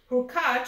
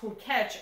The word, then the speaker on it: Hurkacz: Hubert Hurkacz from Poland, and I heard it pronounced Hurkacz also.